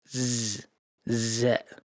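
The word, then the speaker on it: ز: Z is not pronounced like S. It's a voiced Z like in English. You need to feel the vibration in your teeth. Z.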